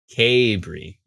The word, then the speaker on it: Cabri: is i'm trying to figure out how to pronounce not cadbury but what is it tapering cabri yes gabriel yes thank you for correcting me